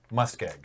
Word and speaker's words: muskeg: Yes, it's pronounced muskeg.